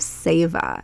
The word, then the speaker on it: Seva: over the first time was the concept of SAA it's spelled s v a and now SAA is